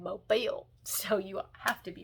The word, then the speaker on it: Mobile: You said Mobile, so you have to be from there."